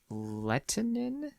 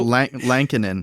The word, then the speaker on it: Lankinen: Is it pronounced Delia? Goalie. Goalie. And who's they have a third guy. Is it Lettinen? Yeah. Kari Lettinen's back? No. It's No. Lankinen.